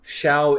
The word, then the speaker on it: Shu: voice actor Chuck Huber instead of the shoe sound that Huber pronounced the name as a shower kind of like the first portion of the word shower people probably thought that